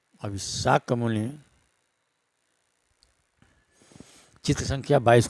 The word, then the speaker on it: शाक्य मुनि: इसमें जो संयुक्त शब्द क और य है उसका उच्चारण क य यानी क से होगा। जिसे एक साथ शक मुनि पढ़ा जाएगा।